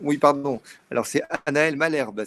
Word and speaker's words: Malherbe: Alors c'est Anaëlle Malherbe, ça s'écrit M-A-L-H-E-R-B-E.